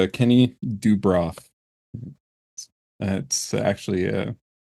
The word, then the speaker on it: Dubroff: phonetically as well um a lot of people try to throw Accents in there it's just do bro that's it do bro